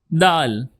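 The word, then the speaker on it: د: So moving to the next alphabet is dal. Dal. Repeat after me. Dal with soft d.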